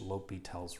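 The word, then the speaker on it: L'Hôpital: and fun rule called lyal's Rule so lyel was French that's the reason it's spelled this way so it's got a silent h lel's Rule and it goes like this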